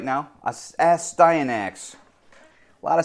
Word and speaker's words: Astyanax: Astyanax. Your boy's done his homework. He finally figured out how to pronounce it.